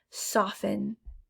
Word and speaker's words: soften: it's there silent h soften soften don't hear the t in soften next is wreckage this